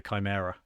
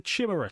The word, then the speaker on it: Chimera: uh the the uh the Imperial Guard tank the Chimera like literally for the first 20 years of my life I was like yeah it's the chimara tanker so I was going around reading Harry Potter I had hermit one over there and I had chimura tanks over here like literally until the